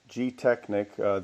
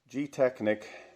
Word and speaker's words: Gtechniq: So anyway, the product is called Gtechniq.